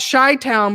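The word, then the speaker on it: Chi-Town: there so that's interesting they call it shy town but they spell it the chi town so it looks like chi town well cheese important yes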